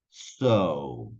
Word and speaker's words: sow: esas dos primeras palabras las vamos a pronunciar igual que esta palabrita esté conector que tenemos acá que es para decir Y entonces por lo tanto que es simplemente decir so so como cuando yo estoy